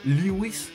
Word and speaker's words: Lewis: En concreto, es una ametralladora Lewis o Lewis, con pronunciación posh británica.